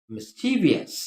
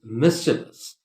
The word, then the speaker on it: mischievous: real us specifics so please do not pronounce it as mischievous as many people do at a pronunciation mischievous noise it is mischievous listen to it carefully it's mysterious all right